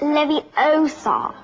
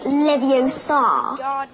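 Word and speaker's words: Leviosa: someone's eye out besides you're saying it wrong it's Levy Oar not leio you do it then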